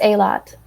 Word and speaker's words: Eilat: You know how to pronounce it, Tonery? I think it's Eilat.